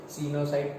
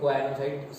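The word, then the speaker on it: coenocyte: सीनोसाइट, कोएनोसाइट, there are to different pronunciations.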